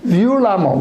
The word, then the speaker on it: violemment: Je l'écris violemment avec un E, mais je le prononce violemment, comme dans le mot femme, la femme.